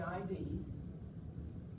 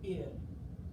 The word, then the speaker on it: id: mind the id and that's pronounced the id not the id the ego and the